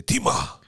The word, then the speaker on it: Timah: How do you pronounce it? Timah. But you have to say Timah.